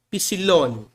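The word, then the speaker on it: ἒ ψιλόν: no grego aqui ó o nome dela é é pilone esse é em grego como na palavra Eco Observe que ela é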